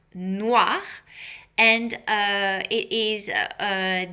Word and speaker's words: noir: So noir is pronounced noir and uh it is uh the uh the one that is most sold.